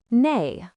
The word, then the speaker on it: 内: Its pronunciation is nay.